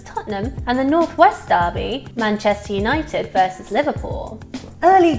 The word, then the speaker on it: derby: David we do local Derby and yes Americans I did mean to pronounce that Derby and not Derby it's a term that